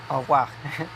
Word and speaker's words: au revoir: or rapidement, or retrouver, au revoir, au revoir. There's not an R in that one actually pronounced.